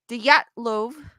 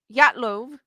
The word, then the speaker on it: Dyatlov: In January of 1959, a fifth-year student at Ural Polytechnic Institute named Igor Dyatlov, I'm going to say the D is silent, Dyatlov. You're saying it correctly.